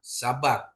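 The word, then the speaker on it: שבת: Yang pertama syabat ya, sabat. Sabat ya. Sya ba tambah T, bacanya Sabat.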